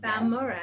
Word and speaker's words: Balmores: Miss Sonya Balmores, did I pronounce it right? Balmores. Balmores, Yes.